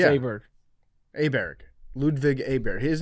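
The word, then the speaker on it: Åberg: Oberg.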